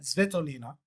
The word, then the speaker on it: Svitolina: Despite losing her quarterfinal to Elena Svitolina, let me get that pronunciation right, Svitolina.